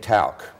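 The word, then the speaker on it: Tauck: thanks for having me I had a hard time st. talc because it's spelled tau CK but am I the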